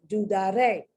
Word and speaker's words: dudaré: Okay, and the only one that doesn't fall outside of the rule of pronunciation is a nosotros form, dudaré. You hear that? Dudaré. Most, next to the last syllable.